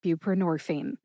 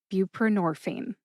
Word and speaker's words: buprenorphine: Put all four syllables together and you get buprenorphine. Emphasize nor. See if you can hear that emphasis when I say it again. Buprenorphine.